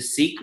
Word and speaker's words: Sikh: I don't know how to say it but it's spelled s AI k H the Sikh religion am I saying that right absolutely that's